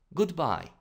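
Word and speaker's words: goodbye: тази дума разделя сричките затова щом първата сричка е ударена трябва да прочетем това goodby това е всичко за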